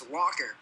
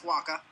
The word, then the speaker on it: Wacha: And nobody knows how to pronounce his name because if you hear it, you immediately think it's Walker, but it's not. It's Wacha.